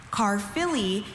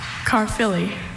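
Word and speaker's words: Caerphilly: Car Philly is a mild white cheese of Welsh origin that is easily crumbled, pulverized, or reduced to powder. Car Philly. Carfilly.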